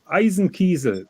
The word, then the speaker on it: Eisenkiesel: correct you you guys it's not the eyes and Kaiser or anything this is a pure German word and it's called Eisen Kizer eisenkiesel that is the name of the Stone you know what I'm